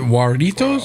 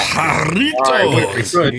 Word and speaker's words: Jarritos: Do you roll your R with that one as well? Yeah. Jarritos.